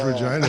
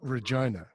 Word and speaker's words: Regina: sorry because regina is a dirty crap you know it is